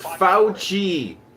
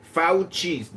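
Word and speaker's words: Fauci: His name is pronounced Fouchi. Fouchi. Get it right pe Fouchi.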